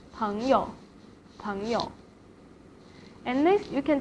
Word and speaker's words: 朋友: And 朋友 here is in neutral tone as well. 朋友, 朋友.